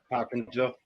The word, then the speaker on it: Hopkinsville: Hopkinsville.